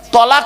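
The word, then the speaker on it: طلاق: ও বাবা, তালাক নয়, শব্দটা হবে তলাক। ওর আরবি উচ্চারণ কি জানেন? তোয়েল আমারিব কপ। বাংলা উচ্চারণ কি? তয় বয় লয়াকার ক।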